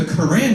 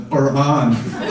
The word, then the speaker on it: Quran: That's the Islamic language from the Quran." He's like, "Well, actually, it's pronounced the Quran."